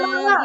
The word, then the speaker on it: Kamala: Sober and awesome president, Kamala, even though it doesn't look Kamala.